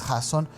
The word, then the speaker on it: Jasón: No, y además tiene acento en la O, pues, no sé si es Jasón.